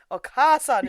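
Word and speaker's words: お母さん: Okasan is how you pronounce it. That got on my beef. Okasan, which is a slightly more respectable term for mother, but not as respected as Hahawe.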